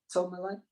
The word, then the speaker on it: tourmaline: Tourmaline.